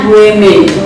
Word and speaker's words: women: Bentuk pluralnya adalah bacanya women.